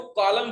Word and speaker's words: colon: Double बिंदु कॉलन बोलते हैं ना, देखो इसको कॉलन बोलते हैं, COLON कॉलन।